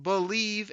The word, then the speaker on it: Bleav: my other Lions podcast it's called believe in Lions that's spelled bleav v on the believe